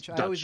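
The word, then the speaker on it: Deutch: It's got our girl Zoe Deutsch. Deutsch. Yeah. I always mispronounce it, even though it's Dutch, and I know it's Dutch.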